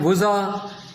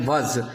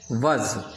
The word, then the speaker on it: وضع: عین لکھا جائے گا لیکن بولا نہیں جائے گا. عربی زبان کا لفظ ہے اور اس کا مطلب ہے کسی چیز کو کسی خاص ڈیزائن کے مطابق بنانا. اسے کہتے ہیں وضع. لکھنے میں وضع ہے لیکن پڑھنے میں درست لفظ اس کا ہے وضع.